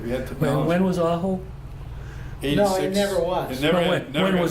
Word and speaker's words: ajo: AHO? AJO. AJO. Just like the town of There's a road out here that says Aho, and that's where it came Spanish from. pronunciation. Yeah. Means garlic.